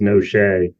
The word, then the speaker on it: Noche: Actually, Your Honor, you did in terms of the Italian pronunciation, but our pronunciation in our family has changed over the years, and it's Noche. Noche.